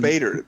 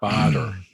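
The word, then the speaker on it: Baader: Bader. Like Bernie Madoff.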